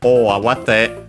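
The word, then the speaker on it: 大慌て: While O Awate, it's accented on the A, so on the first syllable of the second part of the compound, as we have seen a typical position for strictly Japanese compounds.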